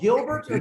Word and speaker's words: Gilberto: full name is Gilberto you pronounce it well just roll your R and work though okay gee